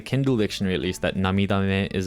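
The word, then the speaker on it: 涙目: So I've seen this word while reading quite a lot of times, but it's actually just pronounced namidame.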